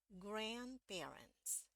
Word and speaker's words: grandparents: malah ada di depan ya Jadi bagaimana cara bacanya jadi kalau kita tunjukkan dulu bunyinya Grand parents grandparents yang ini grandparents grandparents ya hal yang